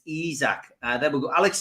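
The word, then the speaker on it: Isak: before we start because it doesn't really work with izak so are we allowed to mispronounce it in order to get the song because it is impact let's go eyes let's go isaac we got to go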